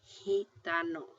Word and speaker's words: gitano: like a J...I mean it is going to be pronounced, not like a J, but like an H so here we've got G next to an A-- gato.